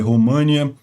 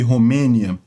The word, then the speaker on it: Romênia: e eu peço desculpas eu tenho a mania de ler os nomes em inglês e falar Eles pronunciar eles como tá em inglês que é moldova e România mas não eh em português é moldávia e Romênia eh isso é um